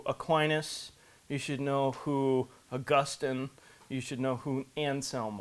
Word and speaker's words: Augustine: or Austine yeah yeah I believe the correct pronunciation is Augustine um he so you know these these guys